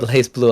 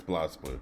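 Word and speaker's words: BlazBlue: I keep saying it wrong. Blaz. Blaze Blue. I mean Blaz Blue. Blaz. Is it Blaz? It's Blaz Blue. Blaz. Okay, Blaz Blue.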